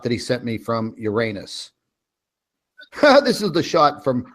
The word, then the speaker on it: Uranus: Yeah, he said, now this is the shot that he sent me from Uranus. This is the shot from Uranus. Actually, it's pronounced Uranus, but that's funny because we can always say, it's always swamp gas coming out of Uranus.